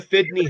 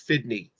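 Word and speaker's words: FDNY: so you got the fitney hat at a souvenir shop there uh this is a 911 yes I think it's on there the memorial fdn why is pronounced fitney oh okay that's why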